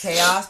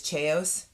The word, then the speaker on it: chaos: was so easy like somebody saying uh it's chaos but they would say it's chos yeah like that like